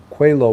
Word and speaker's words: Coelho: It's pronounced Coelho, which is nothing like it looks.